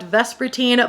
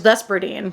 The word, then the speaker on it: Vespertine: September, we have got Vespertine by Margaret Rogerson, previously known to me as Vesperdine because I genuinely thought that was how you pronounced it.